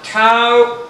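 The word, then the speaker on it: tau: torque represent torque by the Greek letter to TOA let me write that for you now to is written like this pronounce it to so the rotational acceleration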